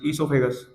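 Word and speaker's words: oesophagus: ए जी य एस सोफे गस ई से मत शुरू कर देना स्पेलिंग ठीक है ओ साइलेंट रहेगा उसके बाद है हमारे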